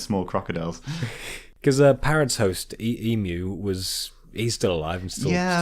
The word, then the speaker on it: Emu: You're just calling him Emu out of It's spite. it's spelled Emu.